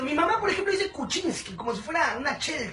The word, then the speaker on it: Kuczynski: kucinski Qué complicado es escribir kucinski Cómo se pronuncia su apedido mi mamá por ejemplo dice kucinski como si fuera una chel chavo ella tiene